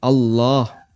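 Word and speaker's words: الله: Kalimat takbir Allahu Akbar yang dipanjangkan adalah lafzul jalalah Allah. Dan Allah kalau pakai standar tajwid berarti dia dibaca tafkhim Allah. Yang kedua, panjangnya 2 harokat. Allah 2 harokat.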